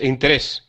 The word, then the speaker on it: interés: política interés interés interés interés con acento en la segunda eh interés interés interés